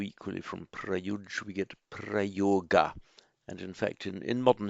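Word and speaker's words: प्रयोग: Just as from the root yuj we get yoga, so equally from prayuj we get prayoga. And in fact, in modern Hindi, prayog, remember in modern Hindi the final a isn't pronounced, it's the same as the Sanskrit word, but without the final a.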